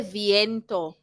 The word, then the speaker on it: viento: Both of you now say hace viento. Hace viento. Hace viento. Hace viento. Not viento. You're saying viento. It's not viento. It's V. I says E. Viento.